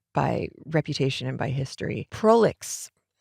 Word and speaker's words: prolix: Prolix, pronounced in English, it's a French word. Prolix.